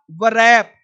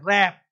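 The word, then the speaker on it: wrap: अब देखो W silent अब वो लोग पढ़ लेगा बरैप बरोंग अंशुअर स्वर्ड ऐसे नहीं डब्ल्यू रैप wrong answer sold तो पढ़ना क्या है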